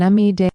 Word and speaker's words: amide: Another common mistake is mixing up amine and amide. Say them carefully. Amine is pronounced "uh mean" and amide is pronounced "am ide".